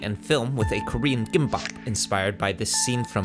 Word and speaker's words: gimbap: for those who are not familiar a korean gimbap or kimbap as it is occasionally pronounced here in the states is a rice